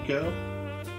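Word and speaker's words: Ico: He's doing Eco, the precursor to Shadow of the Colossus. Oh, that's how you pronounce it.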